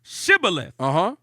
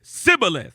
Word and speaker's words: Shibboleth: Then said they unto him, say now, Shibboleth. And he said, Sibboleth. Yeah, so they didn't pronounce it. They didn't pronounce it like sh.